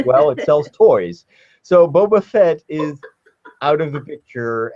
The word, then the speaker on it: Boba Fett: a coincidence Boba Fett was just oh it's Boba Fett hmm it's Boba Fett okay so I said